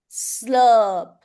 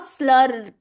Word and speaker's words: slurp: It is not slurp. R nahi aa raha. Slurp. R sound nahi aa rahi.